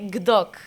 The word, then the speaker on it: Gdok: We say Gdok, but it's also such an uncommon name, even for Poland.